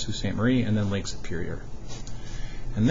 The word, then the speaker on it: Sault Ste. Marie: It's spelled S-A-U-L-T, but for some reason it's pronounced Sault Ste. Marie, and then Lake Superior.